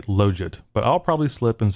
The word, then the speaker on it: logit: Now, I will briefly say something about the pronunciation of that word, Logit. I've heard other people say Logit, and really, I don't care. But I think the proper way is to say Logit, but I'll probably slip and say Logit.